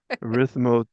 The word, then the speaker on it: erythritol: Erythritol.